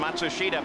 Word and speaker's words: Matsushita: By the way, that's the pronunciation that now Hiro himself has asked all the announcers to use. We know it's not the same pronunciation that the family uses or he uses in Japan, but it's what he wants.